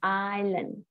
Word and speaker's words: island: Island. Iceland. No, không có S nha. Chữ island này mình sẽ không đọc chữ S, mình đọc là island.